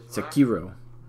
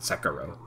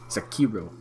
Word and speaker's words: Sekiro: Like somebody's breaking it down phonetically. Sekiro. That's how you pronounce it. Not Sekiro. Sekiro.